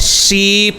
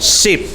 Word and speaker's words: ship: She sleeps in a not sheep. If you remember, students, not long sound. Sheep. If you say sheep means what? Sheep is an animal. Yes, this is like a boat. Ship.